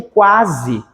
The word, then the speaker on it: quase: pronuncio o o u eu pronuncio o qu o u o a o s e o e eu pronuncio tudo eu digo quase eu tenho som de